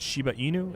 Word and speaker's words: Shiba Inu: You're this little, was it Shiba Inu is how it's pronounced, right?